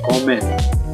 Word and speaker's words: comem: Nah, perbedaannya adalah di bahasa Portugis dan Spanyol tuh, kalau di Portugis dia udah M, dibacanya N, comen.